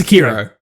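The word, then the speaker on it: Sekiro: like it's called it's it's pronounced sakiro sorry security uh what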